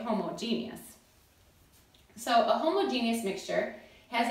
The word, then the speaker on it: homogeneous: First, A is a homogeneous mixture. Now, you may have also heard this pronounced homogeneous mixture, and you can say either one, but the book spells it out as homogeneous, and because I am